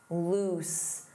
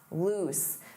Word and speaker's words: loose: Notice that pronunciation, oose, loose, loose.